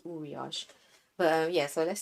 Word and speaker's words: Uriage: this one is from yuriage or uriage i feel like it's pronounced uriash but yeah so let's say uriage from now on now